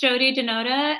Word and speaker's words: Jiyoti Dhanota: My name is Caroline, and my today's guest is Jiyoti Danota, and I hope I pronounced it right. Please help me. Yes. Hi, my name is Jiyoti Dhanota, and I am a self-published author with 11 books already out.